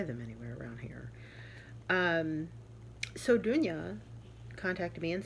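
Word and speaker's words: Dunja: I think it's Dunya.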